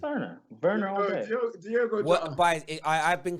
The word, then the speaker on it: Werner: Werner all day. Diego. I've been confirmed. It's pronounced Werner.